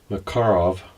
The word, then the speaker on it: Makarov: States say Makarov, and I was always taught to pronounce it with accent on the second syllable, Makarov.